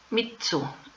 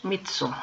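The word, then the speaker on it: 三つ: Para 3, mitsu, que es con doble consonante, mitsu.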